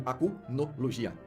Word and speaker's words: Acnologia: curiosidade legal de fato acnologia é pronunciado como aunia e significa literalmente olhos